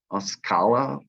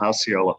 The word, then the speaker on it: Osceola: the school district in oscala florida against gallagher i believe osceola i'm not exactly sure how to pronounce that osceola thank you darren thank you um